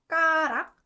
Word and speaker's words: 숟가락: So it has that ut sound, and when ut sound is combined with ku, it just naturally puts more emphasis on ku sound, and it gets pronounced 그.